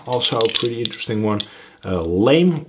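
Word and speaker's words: lamé: a pretty interesting one, lame or lame flake. There is actually a little accent on the E, so I guess officially that it would be lame flake.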